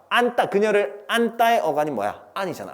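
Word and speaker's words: 안다: 근데 나는 그녀를 안따야. 허그, 안따. 근데 그걸 안따라고 발음을 하죠. 우리는 안따. 왜 된소리 되지?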